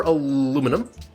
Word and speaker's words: aluminum: cute the autarky uh we did discover aluminum or aluminium if you are um in the uh well pretty much most of the world actually i was about